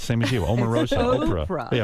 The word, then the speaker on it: Oprah: Omarosa, Oprah. Oprah. Yeah, right. It's a hard O, same as you.